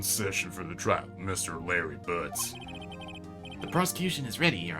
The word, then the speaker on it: Larry Butts: Larry Butts. Rhymes with Harry Butts.